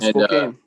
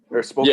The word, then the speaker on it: Spokane: Out in Spokane. Spokane. Yeah, I remember. Yeah, I was fucking it up. I always call it Spokane because of how it's spelled.